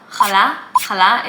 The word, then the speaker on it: Challah: Challah is how I say it. I don't know how to say it with an English accent.